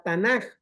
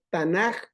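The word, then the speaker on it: Tanakh: clase y en otras tanac o tanaj con j vamos a ponerlo aquí Permítame poser esta Biblia la pronuncian de esas dos maneras tanac o tanaj es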